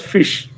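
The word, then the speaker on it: ghoti: should work their brain anybody know how to pronounce gothi gotis goti g-h-o-t-i write it write in a piece of paper go t g-h-o-t-i where did it just gotti but i read it as fish what fish how can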